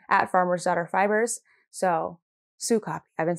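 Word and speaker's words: Sokapi: So the name of this yarn from Farmer's Daughter Fibers is Sue Copy. So I just want to get that out there because I've said it wrong twice now on my podcast. It is Sue Copy, and it means good in Blackfeet.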